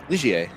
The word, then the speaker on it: Ligier: Is that how you pronounce that? Ligier? Ligier, yeah.